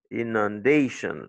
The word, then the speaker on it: inundation: Il dit inundation. L'accent, c'est sur day. Parce que tu vas voir plus tard qu'il y a un grec qui dit que les mots qui se terminent par Sean, c'est l'avant-dernière syllabe qui doit être toujours accentuée.